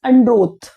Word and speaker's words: Androth: That's how we pronounce it. It is not an English word. It is a Hindi word basically. So Androth, no, it is Androth. That is how they are pronouncing it.